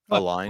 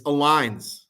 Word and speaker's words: Aligns: Come on. Say it right. Aligned. Oh, aliens? Alliance? No, this is me being too clever with an insert name again. Oh, like metallics? Yes. It's 100% like metallics. It's aligns.